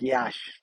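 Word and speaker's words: Iași: the uh walkabout of yash yes it's it's another iasi is the way you spell this town's name but it's pronounced like yash so okay there you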